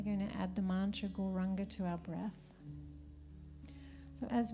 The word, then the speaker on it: Gauranga: Exhale, say it out loud, and it's said in 4 syllables: Gauranga.